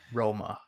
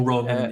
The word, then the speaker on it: Romain: Romain. Okay. Yeah, or Roman if you put it like in English.